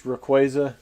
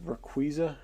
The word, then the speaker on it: Rayquaza: It's Rayquaza, not Rayquaza.